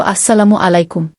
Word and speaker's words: আসসালামু আলাইকুম: মৃদু কোমর স্বরে বললেন সালামের সঠিক উচ্চারণ হইল আসসালামু আলাইকুম এইবার সালাম দাও দেহি